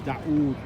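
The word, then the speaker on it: داود: So I'm telling you, David in Arabic is pronounced Daoud. Daoud.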